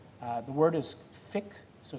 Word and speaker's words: fiqh: ritual worship so that's called the word is thick so it's pronounced spelled fiqh thick of be bothered about it means worship the